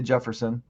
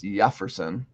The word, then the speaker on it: Jeferson: Okay, I say Jefferson, but it's Jeferson. Good job, which Jeremy. makes sense because it's Spanish.